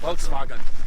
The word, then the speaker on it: Volkswagen: I said it like the SS would say, Volkswagen. The correct way.